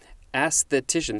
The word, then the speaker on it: aesthetician: where the emphasis is aesthetician this is one of those that has a double emphasis first on the first syllable and next on the third syllable and the third syllable has the most emphasis can i say it